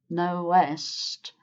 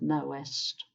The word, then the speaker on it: know'st: So, two syllables with "knowest" and one syllable with "know'st".